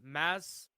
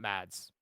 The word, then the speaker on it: Mads Mikkelsen: ] I'm sorry it's it's mass Mikkelsen that's how you actually pronounce it mass not Mads okay I feel like